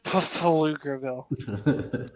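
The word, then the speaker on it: Pflugerville: Mike Judge classic for you pille that's it's pronounced pfugerville right got add extra well cool hell yeah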